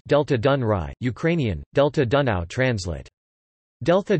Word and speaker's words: Delta Dunării: Topic: The Danube Delta, Romanian, Delta Dunării, pronounced Delta Dunăre, Ukrainian, Delta Dunăre, translate Delta Dunaju, is the largest river delta in the European Union.